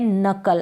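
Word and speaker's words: knuckle: है ना यहां पर भी के साइलेंट है नकल एंड यू सी से स्टार्ट हो रहा है प्रनंसीएशन लेकिन इससे पहले आपको के जरूर लगाना है के जो है साइलेंट है जैसे की नाइफ होता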